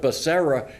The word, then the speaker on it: Becerra: and welfare or education hugh and then he mispronounced his name instead of becerra he's rhea but that never made the evening